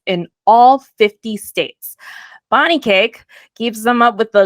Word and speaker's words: Kaake: All right, so for those of you that don't know Bonnie Cake, which we talked earlier, she's like, my name's pronounced like birthday cake.